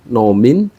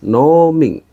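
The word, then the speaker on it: 農民: Apakah kamu adalah petani perhatikan pengucapan no pada kata noing yang diucapkan dengan nada yang panjang jadi bukan nomin tapi Ning bahasa Jepang ini merupakan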